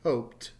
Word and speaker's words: hoped: top is hope and notice in the past tense it is hoped hopefully you can hear that T at the end notice once again there's